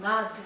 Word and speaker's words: над: Here we pronounce над, because г, city, город starts with voiced consonant sound.